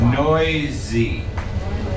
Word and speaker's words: noisy: N O I S noisy. It sounds like there's a Z, but there isn't.